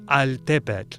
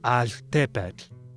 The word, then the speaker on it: altepetl: L's are particularly noticeable there, not altepetl, but altepetl.